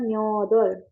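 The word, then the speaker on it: 몇 월: nyotwol itu kita bacanya nyodol.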